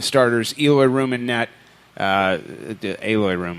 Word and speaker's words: Eloy Room: Aloy Room, I believe it's how it's pronounced, Dwight Burgess.